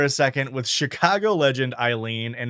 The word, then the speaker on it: Aylin: And it does bother me to have to say Eileen because every time I see her name, which is spelled Aylin, I want to say Aylin, from Baldur's Gate 3.